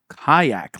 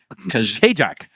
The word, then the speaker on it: Kajak: Kayak, like kayak, like I'm yeah. I've always called him Kajak. Kajak, yeah. I thought that was his Probably name, get so that I'm lot. not even a cap. Okay, Yeah. kayak. I mean, that Kayak. makes sense, actually.